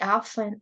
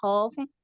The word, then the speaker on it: often: Algo más, la pronunciación de esta palabra often, solo quito la T y quedaría, y estaría bien pronunciada. Often. Yes, you can say I often, or you can say I often. Often is American and often is British.